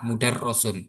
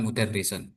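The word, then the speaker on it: مُدَرَّسٌ: Jadi mengetahui huruf ro ini bacanya fathah, mudarrasun bukan mudarrisun ya.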